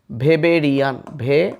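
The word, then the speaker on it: Weberian: এখন এই জার্মান ভাষায় এই ডাব্লিউটার উচ্চারণ হয় ভ, তাই কেউ কেউ ওয়েবেরিয়ান না বলে এটাকে বলে ভেবেরিয়ান, তারপর তারপর রিয়ান, সো ভেবেরিয়ান অসিকল।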